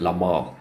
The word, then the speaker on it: La Malle: I know the French pronounce it La Malle. I'll just say Les Mails, because I don't know French.